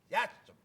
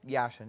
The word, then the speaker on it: Yashin: Okay, is Yatcham. Yeah. Right. I pronounce that right? Yashin, yeah. Well, what are you going to do?